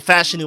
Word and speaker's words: Fashanu: round you give me Olu fashanu I mean fashanu my fault that's the better way to pronounce it I keep hearing or